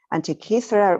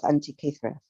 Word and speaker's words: Antikythera: He heads the Antikythera Mechanism Research Project, did I say it right? Antikythera Mechanism Research Project, which is an